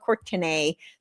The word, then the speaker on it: Courtenay: So it's pronounced Courtenay, but it's spelled Courtenay.